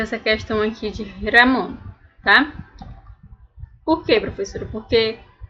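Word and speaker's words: Ramón: E para pronunciar o nome de alguém, de uma pessoa, você vai dizer Ramon. Vocês vão notar que é só a diferença do R, tá?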